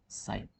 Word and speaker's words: sin: First, साइन, SINE, उसका abbreviation खाली आगे ई उड़ा दो, साइन, प्रोनाउंसिएशन वही रहेगी।